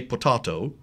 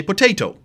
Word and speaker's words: potato: those vowel collective so the British say potahto in America we say potato it's still the same word written am I correct that's